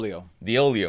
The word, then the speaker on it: Deoleo: last name in English diio diio Okay I always tell people it rhymes with Oreo ah the oio the oio from